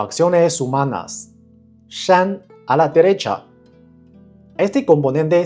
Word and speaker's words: 山: Shan a la derecha.